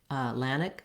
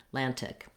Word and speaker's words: Atlantic: then same thing where we might omit that tea and say just more of a lannick atlantic rather than atlantic again this tea is optional i would say you